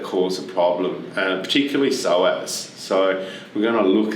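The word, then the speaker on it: psoas: a problem and particularly soas so we're going to look at how to stretch that muscle what so with a silent P just to make it interesting for you p s o s yeah what's that it's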